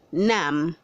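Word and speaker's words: numb: Word 280 says nam, say nam. The B is silent.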